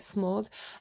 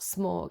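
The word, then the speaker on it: Smaug: the funny thing is i keep seeing smorg from lord of the rings and that's how you pronounce it right smog um and um i was describing when i was connecting to that dragon energy i actually said it's not smorg it's not like smorg right because it didn't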